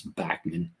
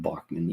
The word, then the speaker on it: Bachman: out and said that his name is Bachman, not Bachman, even though it's spelled with the German pronunciation of Bachman there. You can see it, B-A-C-H, that's Bach, man. But he says that they've always been known as Bachman, so we'll give him